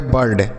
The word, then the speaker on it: bird: बी से पढ़ेंगे ब, इस आई के बाद आर है तो आई का उच्चारण अ के रूप में, आर से र होगा, डी से ड, आर से र जो है ऊपर लगेगा, तो यह हो गया बर्ड।